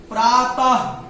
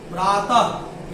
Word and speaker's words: प्रातः: हम प्रयोग में लाएं, इसको पढ़ेंगे प्रातः, प्रातः, यानी कि लास्ट में क्या आया, ह आया।